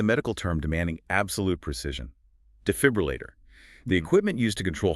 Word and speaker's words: defibrillator: The key is the stress and that second syllable dfib rulator. The fib must be clear and strong. The tendency is to drop the R in the fourth syllable, turning it into leu, which is common in many UK dialects, but the full articulation of all five syllables is the standard we're aiming for.